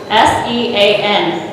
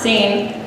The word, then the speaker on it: Sean: poem is titled scene s-e-a-n that's my brother's name c pronounced seen not sean this poem is from